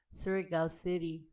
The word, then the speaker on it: Surigao City: And this is we pronounce it Surigao City.